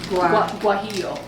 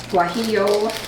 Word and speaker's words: guajillo: Guajillo. Guajillo.